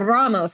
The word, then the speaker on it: Ramos: Humberto Ramos, and I can't roll my R's, so that's me faking it.